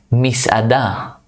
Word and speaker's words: Misada: Misada. Mishada. Misada. Misada is restaurant. Misada. It's like there should be a line after the S. It's like mishada.